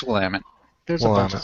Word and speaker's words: Willamette: Willamette, There's a way yes, to pronounce that, and it's Willamette.